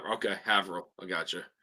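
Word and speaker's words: Haverhill: all right H okay havil I got you it's spelled ha Hill but it's not pronounced that way by Massachusetts natives yeah Peter B says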